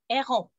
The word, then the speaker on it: heron: Heron. I don't know how to say it. Heron. It sounds like you're saying like a-hole. No, the H is silent.